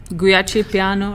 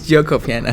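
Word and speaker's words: Giuoco Piano: Gucci piano or something like that. Gucci or Gucci's a brand of clothing, But I think that's how you pronounce it now. It's Gioco piano.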